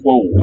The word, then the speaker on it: qual: Oh, listen to how qual is pronounced. Qual é a resposta? Quo, I guess, with a schwa.